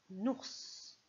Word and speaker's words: ours: Alors le mot suivant, c'est un ours. Ours. Il y a combien de syllabes dans ours? Une seule. Oh, pardon. D'abord, est-ce qu'on entend S comme dans os ou Z comme dans valise?